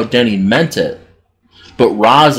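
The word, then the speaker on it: Ra's: danny meant it but raz is how it should be pronounced in arabic but then there's also the argument that race is how it would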